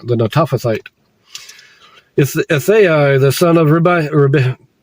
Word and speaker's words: Netophathite: son of Baana, the Netophathite, that's how you pronounce it, the Netophathite, Ithai, the son of Ithai, the son of